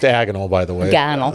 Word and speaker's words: agonal: agonal breathing is pronounced agonal by the way agal it's agonal that's one of the jokes that's one of the jokes in the show actually like Harry Potter diagonal or something so um he do